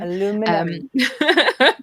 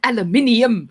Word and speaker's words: aluminium: Aluminum. Aluminium.